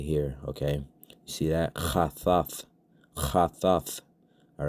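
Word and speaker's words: חתת: It's made up of a cha, all right? That's CHAA, cha. That's it's a real guttural type of sound. You gotta kind of use your throat to pronounce that sound properly.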